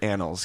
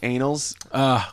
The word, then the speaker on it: annals: their history are they you should pronounce that word annals cuz anals well pretty much I guess